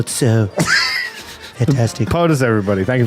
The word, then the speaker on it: Tso: General Chow's was a great man. I believe it's pronounced General Tso.